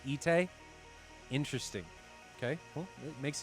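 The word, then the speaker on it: Itay: in here too so they're both ite e-t-a-y and i-t-a-y are both pronounced ite interesting okay well it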